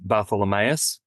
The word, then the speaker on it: Bartholomaeus: Um, my family my family says the last name Bartholomeus, but I imagine that's just because that's how it's spelled and no one in Australia 150 years ago knew how to read the name one way and say it another. They just got sick of explaining it.